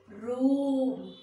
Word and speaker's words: room: shoot shoot here next room room you have to give stress long stretch to the this double o room not room if